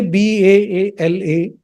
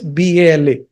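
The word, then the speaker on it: बल: So you have to either say BAALA or you have to say BA and then put a horizontal bar and then say LA if you want to mean baby. But here in the mantra it is BALA. There is no horizontal bar. So Bala means force.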